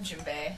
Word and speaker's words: djembe: it's it's called a djembe alright and yeah like it's got a D in it so a lot of